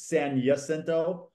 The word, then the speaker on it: San Jacinto: And just so you're aware, it's San Jacinto.